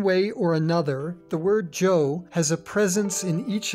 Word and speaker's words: Zhou: to review the word Zhou, which we discussed in Part 2 of Learning Chinese Provinces. The pinyin letter combination, ZH, is pronounced much like the English J.